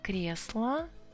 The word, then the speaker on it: кресло: Really, O is unstressed here, so I need to pronounce it with A sound.